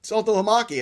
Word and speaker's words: Saltalamacchia: So I'm one of the few people that when I saw that name, I went, oh, Saltalamacchia.